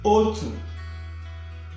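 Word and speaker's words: otu: In Igbo language, you write one like this, but it's pronounced O2. Okay? Instead of one in English, it's pronounced O2. See how to write it?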